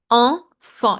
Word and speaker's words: enfant: It's not a, it's not e, it's not it's en. It's a nasal sound. Like when you say it, your nose vibrates. En. Enfant. You see, the T is silent.